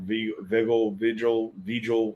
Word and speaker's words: Vigil: You know, I always thought it was Virgil, but I don't think there's an R in there at all.